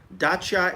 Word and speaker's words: Dacia: yeah i want you to type dacia motors dacha is spelled d-a-c-i-a or just type dacha motors yes